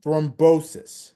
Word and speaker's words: thrombosis: For the deep vein thrombosis.